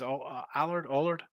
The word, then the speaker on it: Allard: It's Allard.